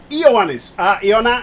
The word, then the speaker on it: Ioannis: Close enough pronunciation, but it's Ioannis.